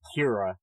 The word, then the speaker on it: Kara: And that's what really made that show interesting, especially in season 1, was seeing Kara, the person, deal with having an alter ego now that... Excuse me, her name is pronounced Kira.